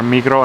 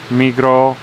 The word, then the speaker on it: Migros: Yeah, they have in Switzerland the two biggest grocery stores are Migros and Coop. And Migros With the S, written, but they don't pronounce this yeah.